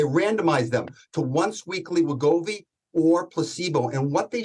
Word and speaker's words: Wegovy: Pronounce the drug for me so we get it correctly. Well, it's Wegovy or semaglutide is the actual mechanism, but Wegovy is the name it goes by.